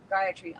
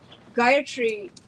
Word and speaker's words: Gayatri: it on YouTube um Gayatri often you'll hear it pronounced in an action incorrect way um for the purposes of our Houma and hopefully on your ongoing relationship with Gayatri um three equal separate syllables I was sitting one